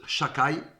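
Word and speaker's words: שדי: lettres shind Dalet youud qu'on ne peut pas prononcer en ement mais qu'on prononce Chaka Dieu a dit à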